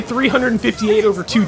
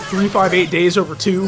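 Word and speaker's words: 358/2 Days: But 300 bas another thing I say 358 over two days because that's the way it looks on the box. But officially it's pronounced 358 days over two.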